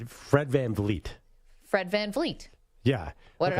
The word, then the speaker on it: VanVleet: Fred VanVleet. Fred VanVleet. Yeah. What did I say? No, I always say it wrong. I always get sometimes Fred VanVleet. You get a little F in the second V.